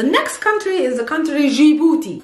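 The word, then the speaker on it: جيبوتي: country is the country gibuti djibouti is simply djibouti in arabic a person that comes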